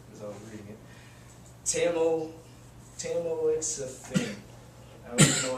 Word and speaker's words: tamoxifen: It's tamoxifen. Phonetically, it's tamoxifen.